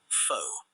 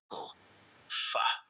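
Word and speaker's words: phở: Some called it "foe". Others said "fuh". Restaurant owners smiled politely before explaining that it was pronounced "fuh". One bowl was enough to surprise almost everyone. Unlike many soups, "fuh" wasn't heavy.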